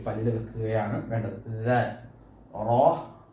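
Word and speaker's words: را: റോ നമ്മുടെ നാവ് മോണയുടെ ഭാഗത്ത് മുട്ടുക എന്ന റോ വയനിറച്ചിങ്ങനെ രീതിയിൽ പറയും. അത് കുറച്ച് താഴോട്ട് വെച്ചിട്ട് കനപ്പിച്ച് പറയുക. സീൻ സീൻ നമ്മുടെ നാവിൻ്റെ തുമ്പ് മോണയിലാണ് മുട്ടുന്നത്.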